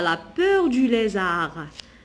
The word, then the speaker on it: lézard: Elle a peur du lézard. Ici, je ne prononce pas la lettre D.